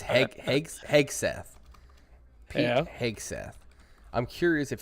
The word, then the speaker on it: Hegseth: I think it's Hegseth.